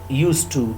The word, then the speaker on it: used to: have already discussed about used to in previous lecture i told you people that some of the grammarians say that used to where d is not pronounced but spelt used to some of the grammarians